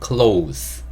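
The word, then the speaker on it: clothes: 다 옷을 입고 있죠 옷이라는 뜻을 가진 영어 단어는 close 이렇게 발음하시면 되고요 따뜻한 옷이라고 얘기할 때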